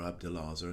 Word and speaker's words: Abdelazer: piece is called rondo from abdullah or abdelazer as some people pronounce it think of incidental music